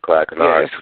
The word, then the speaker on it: Clyde Kennard: Clyde Kennard.